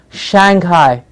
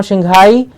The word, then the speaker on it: Shanghai: beautiful silk comes from Shanghai please release a Shanghai it is Shanghai sha n GH AI Shanghai SH a n g h8i Shanghai I and Assam Shang Shang Hai noshing hi Shanghai a lot of cricket